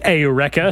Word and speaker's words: Eureka: answer was what is AA 7 Eureka it's pronounced aurea they surf in Eureka that's